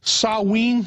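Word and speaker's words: Samhain: know the real name I think was called saen is that the correct the correct pronunciation yeah in in the Celtic britishes yeah sa it's spelled s m ha a i n but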